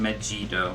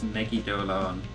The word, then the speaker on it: Megidolaon: I always said I always thought it was Megido, but it's Megidolaon.